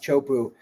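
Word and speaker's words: Teahupo'o: That wave is it's called Chopu, TCHO. I can't spell it, but it's pronounced Chopu, and it's very distinct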